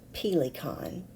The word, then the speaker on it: Pelikan: yet accustomed to the proper German pronunciation of pila kein her husband responded quote